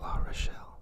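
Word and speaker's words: L'Arachel: you saying her name some people say Rachel like I don't even remember some people that crazy ways to pronounce that but I really like La Rochelle it's a nice way to say it being another one of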